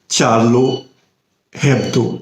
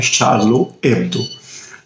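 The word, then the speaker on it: Charlie Hebdo: France से छपने वाली एक साप्ताहिक कार्टून पत्रिका है जिसका नाम है चार्लो हेब्दो, लेकिन फ्रांस में फ्रेंच भाषा में उसका उच्चारण होता है शार्लो एब्दो।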